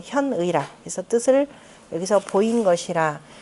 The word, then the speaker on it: 현의: 여기 두 가지 조항에서, 견의라. 이두 가지에서 바로 그 의리, 의견을, 뜻을 드러낸 것이라. 견의가 아니라 현이라고 읽어야 되겠죠. 현의라.